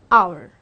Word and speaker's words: hour: we say an R because this again is silent and this is my first word that is o which is again a wobble that is why I am gonna say an hour now let's come to